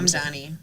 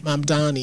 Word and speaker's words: Mamdani: I want to make sure Mamdani. Mamdani, did I say it right? Mamdani. Mamdani, excuse me.